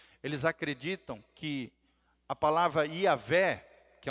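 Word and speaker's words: Javé: nome honroso de Deus, Yavé, a Bíblia nos ensina, né, os rabinos acreditam que quando esse nome de Deus é pronunciado, é como se fosse um sopro, uma respiração, uma espécie de Yavé, Yavé.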